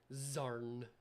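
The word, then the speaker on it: Xarn: it there it does it does start with an x it's one of those xylophone uh things MDM and Corbin bear but it is pronounced zarn yes zarn is a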